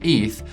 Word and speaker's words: ETH: Well, before you could decide on whether you want to invest in Bitcoin's BTC or Ethereum's ETH, pronounced ETH, you need to understand what each one actually is because both were built for fundamentally different reasons.